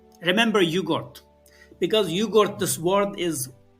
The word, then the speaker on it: Uyghur: And also I hope people to um remember there is a language called in English we pronounce wiger but we call it just like yogurt. remember yugort because yugort this word